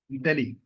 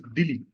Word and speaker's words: Dili: That is Delhi. No, not Delhi. It is Dili. It rhymes with the capital of India, so it's easy to remember.